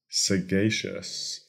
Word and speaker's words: sagacious: and our finyl word for today is scious sagacious this word is spelled s a g a c i o